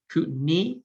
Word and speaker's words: Kootenai: mentioned below that is kootenay kootenai like a knee i butchered that a